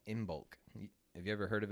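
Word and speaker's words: Imbolc: a pagan holiday called inbulk have you ever heard of it before maybe you'll pronounce it like uh shipping in bulk exactly make sure that's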